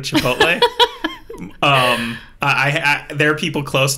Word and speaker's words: Chipotle: So, one of my favorite mispronunciations is Chipotle instead of Chipotle.